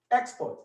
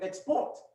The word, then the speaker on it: export: you say the word if you put the stress on the first syllable of the word export export you get the noun export but if if you move the stress to the syllable after the first the second syllable you get export which is a verb so english is is